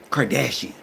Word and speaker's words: Kardashian: Kardashian.